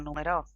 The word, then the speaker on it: numeró: Por ejemplo, acá tenemos tres palabras. El número, lo numero, lo numeró. Entonces tenemos el sustantivo, número, el verbo en presente, numero, y el verbo en pasado, numeró. Son exactamente los mismos segmentos,